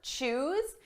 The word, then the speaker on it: choose: Notice the pronunciation difference between our base verb, choose, and the past and the participle. Choose, chose. Ooh, oh.